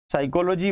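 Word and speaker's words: psyche: पहला वर्ड था साइकी, जिसको हम लोग दो प्रोनाउंसिएशन के नाम से जानते हैं, या तो साइकी कहें या फिर साइके कहें।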